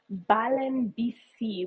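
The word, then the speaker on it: Valenbisi: is um there's also what we call balen BC which is spelled Valen BC so like Valencia bicycling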